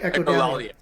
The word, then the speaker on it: Echolalia: My favorite two, and you guys have songs that are hard for me to pronounce, so I'm going to make sure that I say them correctly. Echolalia, right? Echolalia.